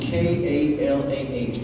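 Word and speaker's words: כלה: And as I shared with you, I were to spell that in English, it would be K-A-L-A-H, kalah.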